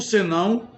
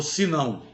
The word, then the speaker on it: senão: Eu acho que esses exemplos mostram claramente a diferença de significados do senão junto. Nós estamos falando, neste primeiro momento, do senão junto, escrito junto. Senão ou sinão. Pronúncia vai depender de cada região.